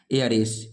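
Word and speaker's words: heiress: इसमें H silent होता है, इसमें भी एच साइलेंट है, इसी का फीमेल वर्जन है, फीमेल है एयर एस।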